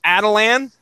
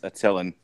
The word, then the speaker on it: Attilan: Where the kingdom of the Inhumans are at, and I'm going to pronounce this as Atalan. I don't know if you guys are going. No, it's Attilan.